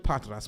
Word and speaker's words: Patras: It's so close. Oh my gosh. I mean, you are the closest that anyone gets. It's Patras, but I like the r that you added to it.